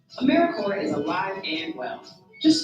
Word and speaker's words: AmeriCorps: say or spell americorps sometimes people pronounce the p but don't make that same mistake americorps is alive and well